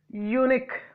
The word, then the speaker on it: unique: It is a disyllabic word. Fine. Unique. Fine. Where did I keep the stress mark? Here before ni. So here I here two words. Here last syllable. Here we have to understand that we keep the stress mark at the last syllable.